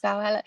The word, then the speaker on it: Valhalla: James is basically saying, Coast Chicken is basically saying, oh, loads of people are actually saying Valhalla. Is that how you say it? Yes. Valhalla.